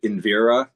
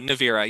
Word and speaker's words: Nivera: to pronounce it but is it invira the in the second book? Oh, Nivera. Yeah, Nivera. Sorry.